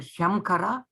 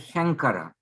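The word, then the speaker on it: शङ्कर: Now you know you are not pronouncing Shamkara, it's pronouncing as Shankara.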